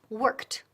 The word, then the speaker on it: worked: Pero en este caso, la pronunciación de la última letra o sonido al final es T. Worked. Repeat. Worked. Worked. Con T, T, T al final.